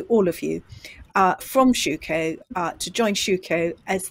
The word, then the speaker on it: Schueco: website to go to which is www dot shuko which is spelled s-c-h-u-e-c-o dot com forward letter i n